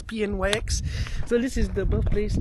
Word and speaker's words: Pnyx: Pnyx, I don't know how to pronounce it. It's Pnyx.